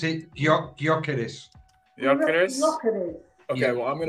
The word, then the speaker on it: Gyökeres: I want Gyökeres from Sporting Lisbon.